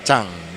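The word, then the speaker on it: Zhang: saudara Yosep Paul Jang tapi di dalam pelafalan Mandarin sang itu dibaca Cang ya jadi Yusuf Paul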